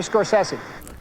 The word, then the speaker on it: Scorsese: I should say I have a clip of Scorsese pronouncing it for you guys. Can you roll it? Hey, it's Marty Scorsese. There you go. That Marty was from Scorsese.